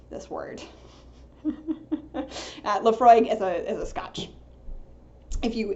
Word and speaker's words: Laphroaig: I did double-check I looked up how to pronounce Laphroaig I was pretty sure I knew and I